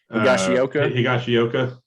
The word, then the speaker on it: Higashioka: Higashioka.